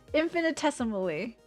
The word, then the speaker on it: infinitesimally: Infinitesimally. Infiniteimally. Yeah. Like I can't like that's just so many syllables. Uh that's a freaking mouthful. No, you pronounce the T infinitismally.